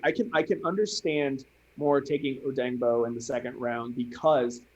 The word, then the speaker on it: Odeyingbo: They had the phonetic pronunciation in the Hooked on Phoenix. They had that in his like little draft bio. Okay. So it's right, Odengbo.